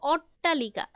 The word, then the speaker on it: অট্টালিকা: আচ্ছা, ঠিক আছে, এইটা দেখো অট্টালিকা, এখানে উচ্চারণটা করো অট্টা, কোনো ঠ কিন্তু বুঝতেছি না। হ্যাঁ, আমরা কিন্তু শুধু টয় বুঝতেছি।